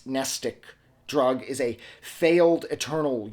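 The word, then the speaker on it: mnestic: a dangerous regimen of nestic drugs, nestic spelt with an M at the beginning, of course, nestic drugs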